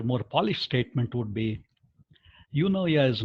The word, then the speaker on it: eunoia: The word is eunoia, E-U-N-O-I-A. I'll type that in a moment. Some people, because it has a Greek background, call that as eunoia, but I'll stay simpler pronunciation and say eunoia.